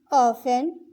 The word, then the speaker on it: often: He often lies. ये often में टी की आवाज़ साइलेंट है. टी की आवाज़ नहीं निकलेगी.